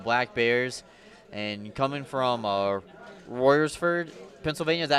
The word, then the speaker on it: Royersford: And coming from Royersford, Pennsylvania, is that how you say it?